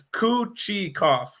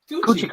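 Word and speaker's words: Kochetkov: And I saw a tweet by the Carolina giving the pronunciation for it. It's Kuchikov. Kuchikov. I like it. It's Kuchikov.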